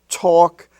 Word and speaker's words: talk: have talk and walk where the a is pronounced like the a in all talk and walk even though it's in the milk and silk family it's talk and walk as if it was spelled t-a-w-k or w-a-w-k walk now in lesson 51